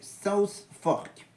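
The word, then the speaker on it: Southfork: quel mot norfork norfken sfork ou s forken 26 15 et ben c'était c'était évidemment le sud non le le S fork et oui sou fork la vraie prononciation j'ai fait exprès de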